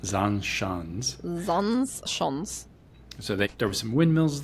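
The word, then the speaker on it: Zaanse Schans: So we went to, how do you pronounce that? Zandschans. Zandschans.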